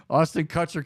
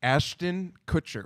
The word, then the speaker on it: Ashton Kutcher: punk the the punked part of it was Austin cutter kept uh sending out um did I say his name right Kutcher Kutcher Ashton Kutcher Ashton Kutcher I'm sorry yeah he's married is